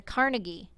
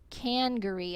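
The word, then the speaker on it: Congaree: Louis Riverfront tournament than the Carnegie? Cangaree. I said it wrong.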